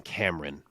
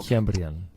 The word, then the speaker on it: Kiamrian: So I needed John Anik in this one because some guys were saying Kiamrian and some were saying Cameron, which is wildly different pronunciations. That can't be it. So, Kiamrian.